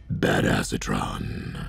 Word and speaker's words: Badassatron: right now is um bad asatron which is actually pronounced bad acetron um we're going to